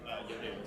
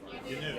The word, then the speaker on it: Yanu: Just pronounce it as Yanu. So it's like a canoe with a Y. Yanu.